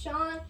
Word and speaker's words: Sean: But it's not spelled like normal Sean. It's spelled S-E-A-N. That's proof that my dad's name actually starts with, that is actually spelled S-E-A-N. But his name is Sean.